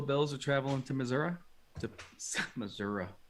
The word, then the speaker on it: Missouri: Missouri. I have family from Missouri. That's how they say it, I guess.